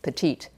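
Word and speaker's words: Petitti: So they pronounced petit as petite, which then got spelled with a double T and an I, P-E-T-I-T-T-I.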